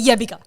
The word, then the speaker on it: Jebiga: Jebiga. Tako se kaže. That's how you say it. Jebiga.